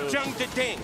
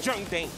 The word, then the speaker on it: Jeondding: It's not Jeondding. It's Jeondding. There's two Ds, but it's a silent one.